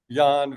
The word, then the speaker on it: Jan: Well, in in Norway or Netherlands, Yan Van. Okay. Yan Van. Okay. Now, this is this character is interesting. You presented Yan Van not only as a painter but as